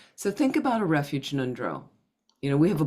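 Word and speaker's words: ngöndro: Nundro, I'm not pronouncing it that well. Nundro, it's in the back of the throat, are preliminary practices preliminary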